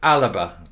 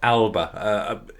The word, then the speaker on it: Alba: There's no indication whether Salmond's party, which I've been reliably informed, thank you Fiona, is pronounced Alaba, not Alba.